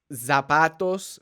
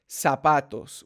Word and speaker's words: zapatos: see a word like it's not zapatos for shoes it's not sapatos it's sapatos with an S sound alright so those are